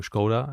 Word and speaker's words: Škoda: the difference between the pronunciation of s uh to to S SCA to scoda as it should sound correctly in check and we wanted to